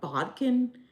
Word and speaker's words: bodkin: Cheap, inexpensive, and again, it's just a Yeah, how do you pronounce that? Bodkin.